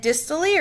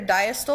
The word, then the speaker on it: diastole: what's called systole and distally or diastole I've heard it pronounced both ways so systole is when